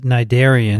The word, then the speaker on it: cnidarian: I should point out that cnidarian has a C in front of the N, which is silent.